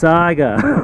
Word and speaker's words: Saiga: Saiga, okay? Say it with me. Say it correctly. It's Saiga.